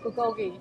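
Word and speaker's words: 불고기: And then they got I don't know how to pronounce that. Bulgogi.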